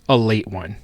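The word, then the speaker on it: Ale-8-One: It is pronounced a late one.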